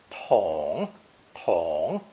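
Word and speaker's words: 桶: true bucket or pale it's pronounced third tone Tong Tong that means what it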